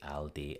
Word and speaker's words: Aldi: However, if people do say Aldi, then it makes perfect sense to pronounce it that way based on the spelling, since A, L and then a consonant usually represents an O sound in English. For example, also, alter, always.